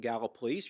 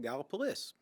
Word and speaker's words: Gallipolis: pronounce this town's name gallipolis gallup police gala police well you can pronounce it gala police or you can call it galapalys i say galplus police i usually say